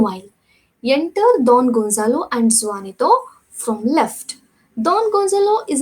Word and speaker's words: Juanito: The pronunciation of this word should be Juanito.